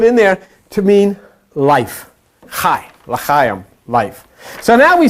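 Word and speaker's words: חי: The number 10 is I, and you put them together, 18 equals CHAI, pronounced chai, which is life.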